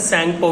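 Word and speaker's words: Tsangpo: में पड़ता है, जिसको सैंगपो भी बोलते हैं। ठीक है, टी साइलेंट रहता है, सैंगपो भी बोलते हैं।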